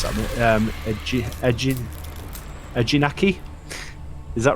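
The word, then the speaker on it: Eejanaika: Brady P says, "Why do you guys think there aren't any more 4D coasters like X2 or can't pronounce that? Ejinaki?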